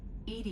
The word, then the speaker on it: EDI: have a specific inquiry why are you named Ed Ed is the phonetic pronunciation of Eed that is an acronym for